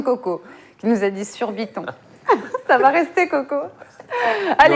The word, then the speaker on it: Surbiton: Tu vois On rappelle la prononciation de Coco, qui nous a dit surbiton.